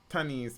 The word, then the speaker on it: Thaniese: So the teenager has been identified as Tanis Francis, and that's a Tanis spelled Thaniese.